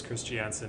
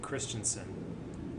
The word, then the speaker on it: Christensen: yeah isn't it christian her married name was christiansen and then when she got divorced she started pronouncing it christensen and now she's married again and her she goes by christensen foster christensen foster okay so